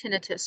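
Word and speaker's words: tinnitus: have I should mention it can be pronounced tinitus or tentis so if you have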